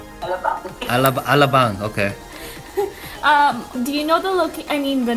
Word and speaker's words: Alabang: Alabang. Alabang.